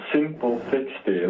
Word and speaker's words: Simplefixty: It's Simplefixty, like in simple and fix and thank you.